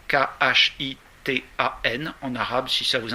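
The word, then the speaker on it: خِتان: En revanche, la circoncision, khitan, K-H-I-T-A-N, en arabe, si ça vous intéresse, ça s'écrit K-H, donc souvent ça se prononce khitan. En fait, c'est ré. K-H, ça se prononce ré.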